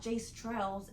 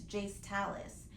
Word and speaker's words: Jayce Talis: It is not Jace Trails, it's Jace Talis.